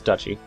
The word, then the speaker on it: duchy: of duchy of poland i keep saying gucci because that's how i pronounce it in my head for some reason it's dutchy it's be okay i'm